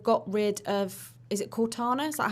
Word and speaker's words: Cortana: about was they've got rid of is it cortana is that how you pronounce the name yes why do you think